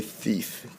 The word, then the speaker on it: thief: Everybody say thief. T-E-E. We hear that long E, don't we? So it's going to be a long E sound.